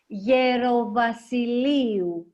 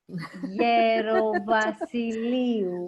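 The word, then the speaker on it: Gerovassiliou: Gerovasiliou. Gerovasiliou.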